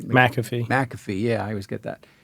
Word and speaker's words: McAfee: then companies came along an early one was maffy U am I pronouncing his name right mcafe McAfee yeah I was get that and McAfee uh